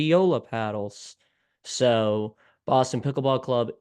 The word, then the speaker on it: Joola: so first of all I know that myself included have said Jula or YULA it is Yola so that is how we pronounce the name correctly so with that being